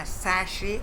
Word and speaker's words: sachet: can teach them a sashi of shampoo now sashi the spelling is important and it's equally important to know that tea is silent asashi sachet we write but so we have